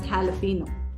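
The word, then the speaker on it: jalapeño: is uh pronounced as jalapeno okay they write J but it is pronounced H so it is jalapeno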